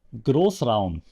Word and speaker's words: Großraum: Schmidt from Germany, so I can actually tell you how to pronounce it. It's called der Großraum.